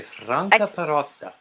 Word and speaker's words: Franca Perotta: Now, how do you pronounce the lady that has the French name? It's actually Italian. You say Franca Perotta. Frank. So it's for somebody who is an English person. It would just be Franca.